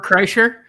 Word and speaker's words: Kreischer: Cola Florida is uh Bert Kershaw I can't pronounce it Kreischer yeah yeah my friends